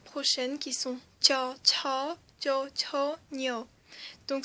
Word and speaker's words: ឆ: Ensuite nous avons cha. Cha. Donc là, cha, c'était un tout petit peu aspiré, mais là, c'est encore plus aspiré, d'où le double H.